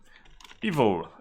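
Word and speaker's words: eval: evil us in zoomit evil and please pronounce it the same way as evil it is the proper way to pronounce it evil so evil is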